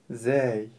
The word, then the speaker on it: ز: точка сверху А теперь научимся правильно произносить букву зй буква зй мягкая зй зй зй некоторые её путают